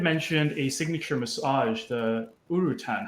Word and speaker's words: urutan: um you had mentioned a signature massage the urutan how do you spell that and how can people find more about